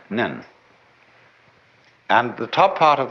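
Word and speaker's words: 念: very interesting sign this it's pronounced in Japanese nin and the top part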